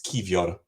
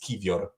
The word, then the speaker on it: Kiwior: pronounce Kiwior's name, basically W in Polish is pronounced like your V, and I is pronounced like your E, basically. So it's Kiwior.